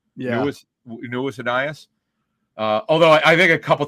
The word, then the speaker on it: Ainias: When they drafted him, I think we actually had a pronunciation guide, so we knew what it was. Yeah, we knew it was Aeneas.